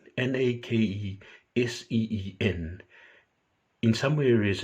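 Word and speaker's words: Náqiḍín: And the other is Nakeseen, Nakeseen. In some areas, it's spelled Nakezeen.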